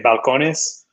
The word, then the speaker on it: Balcones: And been with Balcones since then.